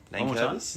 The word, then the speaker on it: Nankervis: Nankervis.